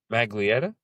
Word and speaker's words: Maglietta: Jamie Maglietta is how you say it?